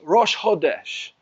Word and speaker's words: Rosh Chodesh: the Abrit, except for in Hebrew it is pronounced Rosh Chodesh.